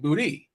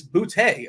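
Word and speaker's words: Boutte: and this year uh I hear everyone saying boty so uh I live in a city called Bouy and we pronounce it bouty I was just wondering if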